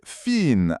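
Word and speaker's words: فين: Fin, c'est prononcé fin avec le i long.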